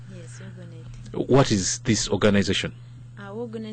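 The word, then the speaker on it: WOUGNET: She can actually, Agnes can even just pronounce it better, Ugonet. Yes, Ugonet.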